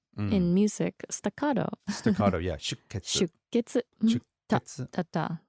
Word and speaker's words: 出血: So the pronunciation of that is really interesting because it's not shuketsu, it's shuketsu, right? There's that little tsu in there. So if you imagine the sounds all have equal spacing, rhythmically speaking, and then you've got a sh and then a ke and then a tsu. So between the sh and the ke is this silent beat, if you like a rest in music.